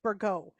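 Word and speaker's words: Bourgault: mean for for the burgo purchase um and Andrew that's how you say it bergo and I I say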